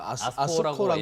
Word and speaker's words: ASCO: 미국 임상종양학회 ASC 이거 아스코라고, 예. 아스코라고 읽으면 되죠.